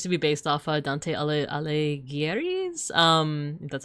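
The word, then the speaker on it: Alighieri: Um, and yeah, it it seems to be based off Dante Alleis. Um, that's how you pronounce it.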